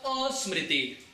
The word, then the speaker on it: asmriti: Because of asmriti. So it is written smriti, but it is pronounced as asmriti.